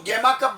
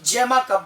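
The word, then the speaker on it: gemma cup: Pronunciation दोनों यूज होती है, कोई इसको गेमा कप बोलता है, कोई जेमा कप बोलता है, इससे कोई डिफरेंस नहीं है।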